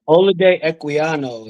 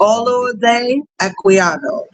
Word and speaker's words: Olaudah Equiano: Olaudah Equiano is how you pronounce it. Olaudah Equiano, or Gustavus Vassa, the African.